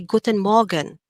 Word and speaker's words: Guten Morgen: is saying good morning if you want to sound more german for this one try to make the letter r a little bit more silent and say guten morgen okay do you hear how the r kind of becomes silent guten morgen that